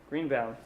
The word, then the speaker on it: Greenbaum: Yep, How do you pronounce that's it? me. Greenbaum.